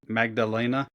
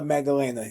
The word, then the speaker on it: Maddalena: Jack Jack Magdalena. I could be Jack saying that wrong. Jack Della Della JDM. Magdalena. Yeah, Jack Della Maddalena.